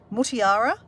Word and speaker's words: Mutiara: Mutiara is how you say my name or spell my name.